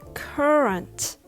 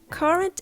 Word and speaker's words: current: means the present time current event is something that's happening right now current also means the flow or the stream current it's pronounced with the heavy er sound sandwiched between sound and and sounds